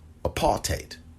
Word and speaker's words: apartheid: go and read harriet washington's book medical apartheid apartheid excuse me that's the proper pronunciation of it but if you're gonna invite